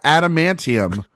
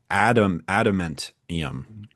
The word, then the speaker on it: adamantium: The word is a pseudo-Latin pronunciation based on the English noun and adjective adamant. Okay. Added to the Neo-Latin suffix ium. All right. So it's adamantium.